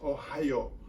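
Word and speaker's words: おはよう: And good morning is pronounced the same way as an US Midwest state, and that would be, of course, Ohio. It's spelled O-H-A-Y-O. It is pronounced Ohio.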